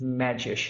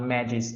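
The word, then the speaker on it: Medgyes: name correctly and then I learned that it's magic not magic as I used to to pronounce one of the reasons why he is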